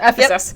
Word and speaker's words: Ephesus: the Church of Ephesus yeah that's how you pronounce it Ephesus Ephesus um he's really telling them to like